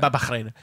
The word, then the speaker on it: Bahrain: You gotta say it with an accent. Bahrain. That's how you say it.